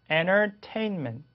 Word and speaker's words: entertainment: 그래서 이렇게 N 다음에 T가 오면 소리가 얘한테 꿀꺽하고 그냥 삼켜지게 돼요. 먹히게 됩니다. 동화돼요. 그래서 소리가 아예 없어져요. silent T예요. 소리가 나지 않습니다. 그래서 entertainment 이렇게 하시면 돼요.